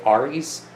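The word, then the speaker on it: ARES: This is primarily for, I've heard it pronounced Rs, I say ARIS, which is the Amateur Radio Emergency Services.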